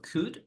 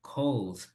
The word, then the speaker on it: could: Por ejemplo, could es parecido a should. Tampoco vamos a pronunciar cold. Vamos a ver aquí todos los modal verbs with the pronunciation. So you say could, could, could.